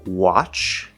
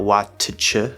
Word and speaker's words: watch: Of course, we have words like watch, and this T is just spelling. It's not watch, where there's a T and a CH. It's just a CH sound.